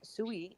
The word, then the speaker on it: Sui: And see how this is why I'm so bullish on Sui, because all these names, Sui in Mandarin means water. mm-hmm. Actually, you pronounce it as Sui, right?